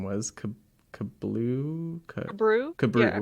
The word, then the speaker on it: Kabru: Kablu? Brew? Yeah. Kabru, yeah.